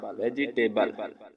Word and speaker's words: vegetable: लाम की आवाज देगा, ई आखिर में आता है तो ये साइलेंट रहता है।